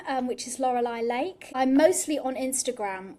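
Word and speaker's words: Loralai: So I actually um I'm an artist under a different name um which is Lauraai Lake. I'm mostly on Instagram at Laurelai Lake. Lauraai is spelled not the correct way.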